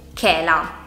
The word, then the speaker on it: chela: In parole come per esempio chicco o chela.